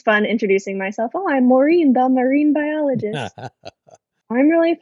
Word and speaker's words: Maureen: marine today oh um i like that my name rhymes with what i do uh because it's fun introducing myself oh i'm maureen the marine biologist i'm